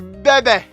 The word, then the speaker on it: Bebe: my name's my name's bebe that is exactly how i pronounce the name for uh uh what